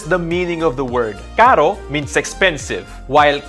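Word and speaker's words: caro: two sounds right away the simple r is pronounced like the t in the word water with an american accent water water the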